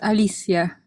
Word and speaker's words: Alicia: my name is pronounced alicia like alice but with i yeah rather than you